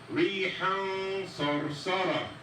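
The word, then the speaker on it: ريحًا صرصرا: So we say rihan sarsara, rihan sarsara.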